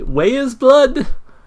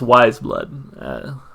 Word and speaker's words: Weyes Blood: pronounce that by the way i was like way is blood ways blood apparently is pronounced wise blood white likewise yeah yeah you get the idea